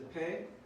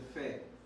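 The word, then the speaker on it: פ: So now we have one with the dot, one without. This is the Pei. This is the Fe. Pei, Fe. Looks like a whale.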